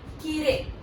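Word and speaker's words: きれい: तो इसकी प्रोनाउंसिएशन में ई के बाद जब आई आता है तो आई की हमें अलग से साउंड नहीं आती है, वो साइलेंट टाइप का रहता है, ए की आवाज आती है।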